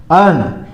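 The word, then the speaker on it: urn: अर्ण यहां पर यू को अर्ण बोला जाता है।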